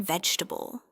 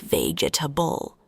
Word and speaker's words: vegetable: For example, the word vegetable. Many learners try to pronounce all the letters like vegetable. But in English, we say it shorter.